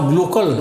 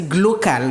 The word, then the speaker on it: glocal: Donc normalement Mister Glocol. Voilà, Glocol. Normalement ça se dit on va faire un petit ça se dit glocal normalement.